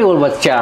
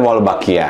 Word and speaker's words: Wolbachia: Tapi Wolbachia nih. Kalau kita pakai bahasa Indonesia mungkin Wolbachia, tapi kalau pronunciation asing Wolbachia.